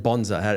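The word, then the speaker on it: bonza: Did all the market stalls and bonsa. How do you spell it?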